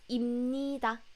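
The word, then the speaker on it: 입니다: it up with pup here but when you pronounce it it's imnida in needha so never write like this but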